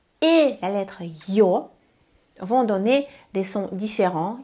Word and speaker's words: Ё: La voyelle Yo donne 2 sons. Y et O. De la même manière que Y, c'était Y plus E. Ici, on entend Y, O, Yo.